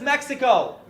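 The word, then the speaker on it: México: Latin America is not just Mexico. Actually pronounced Mexico, pero whatever.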